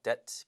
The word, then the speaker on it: debt: debt, B 발음 안 납니다.